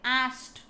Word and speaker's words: asked: ed pronounced as t ಅಂತ pronounce ಮಾಡಬೇಕಲ್ಲಿ. ಆಸ್ಕ್ಡ್ ಅನ್ಬೇಡ್ರಿ, ಆಸ್ಟ್.